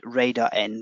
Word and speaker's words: RDR: rdr r and rdrc or actually how i should pronounce it radar n radar r and radar c and as i said